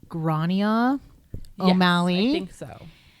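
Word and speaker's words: Gráinne: So I believe that this name is pronounced Grania Yes, O'Malley, I think so.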